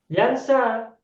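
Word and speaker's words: ينسى: ya juga nah tapi cara bacanya berbeda yang nomor satu ini bacanya Bagaimana yamsyi panjang kan yamsyi begitu kan sedangkan nomor dua Bacanya apa yansi atau yansa yansa berbeda Kenapa berbeda Kenapa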